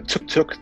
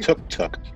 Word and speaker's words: Tuk-Tuk: i'll be playing uh took the taker it's pronounced tuk-tuk the taker yeah just love it